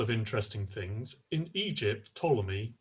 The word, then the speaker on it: Ptolemy: interesting things in Egypt Ptolemy you don't pronounce the P on the front of Ptolemy not sure why it's there but it is in Egypt there's quite